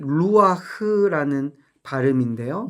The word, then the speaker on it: 루아흐: 여기 어 교재에도 있지만네이 호흡이 루아흐라는 발음인데요. 히브리 말로.